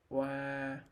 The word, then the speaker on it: oa: First, the R combination is pronounced wa, wa, wa.